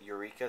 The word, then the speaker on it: Eureka: week's Inside the Box begins with Ura 7 and I pronounce it like that cuz I think that's how they pronounce her name in the anime I don't know if uh fans pronounce it Eureka 7 but as you can